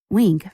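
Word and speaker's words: Winc: to talk about my favorite wine service week that's spelled WI NC wink makes it easy to discover great wine just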